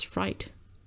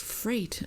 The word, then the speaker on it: freight: I always said it was fright. But like, I guess fright is also scared. It gave me a fright, you know? So it's freight.